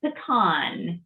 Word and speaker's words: pecan: it's pasta that's right we just swapped the pronunciation there i think it's patently obvious that this one is patents it is pecan we have a lot of pecan pie here